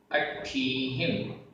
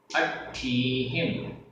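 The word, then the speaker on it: अट्ठीहिं: अट्ठीहिम, अट्ठीहिम, आधा ट ठ बड़ी ई की मात्रा, ह में छोटी की मात्रा और बिंदी।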